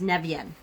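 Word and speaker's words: Nemain: Yes. Pronounced Nevian. Nevian.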